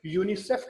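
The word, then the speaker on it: UNICEF: सारे individual letters हैं, लेकिन हम इसे जब ज्वाइन करते हैं यूनिसेफ कहते हैं, यूनिसेफ।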